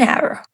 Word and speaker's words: hour: An hour. Why an when hour starts with the letter H? Because the H is silent, the word actually starts with a vowel sound, hour.